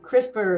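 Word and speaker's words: CRISPR'd: apostrophe d uh and that's a reference to crisper Cris spr incaps which is a new Gene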